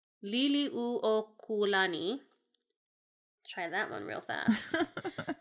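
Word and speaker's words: Liliʻuokalani: Liliuokulani. Try that one real fast. There's a lot of vowels in this language, which is a really tough one for me. Oh, I bet. And you pronounce every one.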